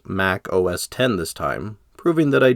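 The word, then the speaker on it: Mac OS X: I do promise to properly pronounce Mac OS 10 as Mac OS 10 this time proving that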